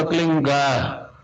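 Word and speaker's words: क्लीं: एक शब्द क्लीन शब्द क्या आधा ला में मिला हुआ, बड़ी की मात्रा और बिंदी, उसका उच्चारण होगा क्लीन गा। गा की ध्वनि निकलेगी पीछे। आप अंग बोलो, यहां स्ट्रोक लगता है, अंग बोलो।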